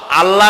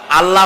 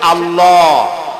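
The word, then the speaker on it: الله: নাম আল্লাহ বলেন তো আল্লাহ আল্লাহ নয় কিন্তু আল্লাহ হচ্ছে অশুদ্ধ শুদ্ধ হচ্ছে আল্লাহ বলার সময় মুখটা গোল হয়ে যাবে বলেন তো সবাই উচ্চারণ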